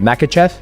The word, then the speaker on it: Makhachev: How do you pronounce? I want to make sure I say your last name right. Makahachev. Yeah. Makahachev.